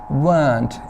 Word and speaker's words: weren't: weren't. आपने इसकी pronunciation भी याद रखनी. weren't, इसमें र नहीं बोला जाता है.